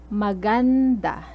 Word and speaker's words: maganda: attention to the stress maganda so notice the stress is on the second syllable maganda next bago the